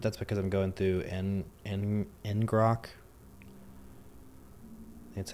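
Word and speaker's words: ngrok: that's what but that's because I'm going through eningrock that's how you pronounce it locally.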